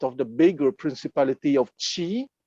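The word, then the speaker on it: Qi: map just south of the bigger principality of chi it's written q i but it's pronounced as if it's written d-c-h-i-g so on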